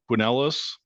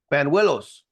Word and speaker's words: Banuelos: And West Ranch starter Jackson Buenelos, did I pronounce that correctly? Banuelos.